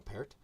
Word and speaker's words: Peart: of their drummer Neil Peart uh which is pronounced pair not pert I always call them